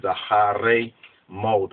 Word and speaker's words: Acharei Mot: Hebrew, in the Hebrew Masoretic, more or less, pronunciation is Acharei Mot.